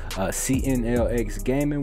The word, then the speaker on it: CNLX Gaming: CNLX Gaming, where the X is silent.